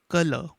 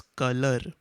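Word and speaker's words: colour: this word once again color many of you people also call this as color wherein you can hear the sound of r but actually we don't say this loudly we only say color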